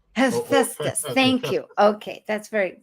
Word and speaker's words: Hephaestus: Some people pronounce it Hephaestus. Hephaestus, thank you.